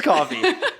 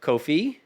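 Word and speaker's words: Coffey: Julia Rose coffee coffee it is coffee because it's spelled with a y at the end so I didn't know if it was like Kofi no it is coffee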